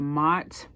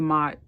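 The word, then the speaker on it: Maat: I remember I went to learn the Mot. That's spelled M-A''AT.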